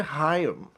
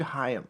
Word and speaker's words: Higham: Uh Richard Haim. Richard Haim. Yeah. H I G H A M. Hi. Spell it again. H I G H A M. Like hi and then AM.